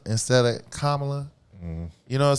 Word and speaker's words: Kamala: folks especially these white women who purposely call kamla instead of kamla you know what I'm saying they're disrespecting her